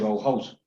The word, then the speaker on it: Bauhaus: el primer semestre que la pronunciación de la escuela bauhaus tal como como se escribe así se dice bauhaus listo bueno era una